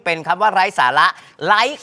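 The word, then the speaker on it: ไลค์: คำ ว่า ไร้ สาระ ไลค กับ ไรฟ นะ ฮะ ใน ที่ นี้ ออก เสียง ไม่ เหมือน กัน นะ ฮะ มี ความ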